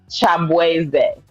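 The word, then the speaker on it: Chibueze: So he basically self-proclaimed himself as Shabuzi because people started trolling him and calling him that because they couldn't properly pronounce Chabweze.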